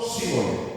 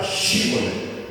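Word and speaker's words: Shibboleth: correctamente síbol y no síboles. Lo único que los defín tenía que decir era shíble, pero cuando lo intentaban decían síbol.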